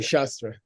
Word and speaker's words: shastra: we studying shastra or shastra sh we're studying shastra which is classical commentary and and now the